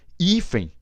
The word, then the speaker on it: hífen: pronuncia não e a língua portuguesa nos pronunciamos hífen hífen ou ele é forte